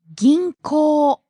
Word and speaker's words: 銀行: There's a long O vowel at the end, so be careful. 銀行。